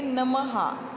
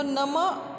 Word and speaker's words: नमः: यहाँ देखो, ये नमः, म के बाद ये दो क्या दिए हैं? दो बिंदु दिए हैं। तो नम ऐसे न कहते हुए नमः, ऐसे प्रोनाउंसिएशन आता है।